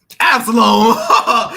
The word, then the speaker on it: Absalom: Pronunciation. It is Absalom.